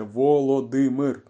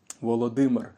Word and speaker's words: Володимир: недавно чув і я подумав що варто розповісти як вимовляється принаймні. Це - Володимир, Володимир.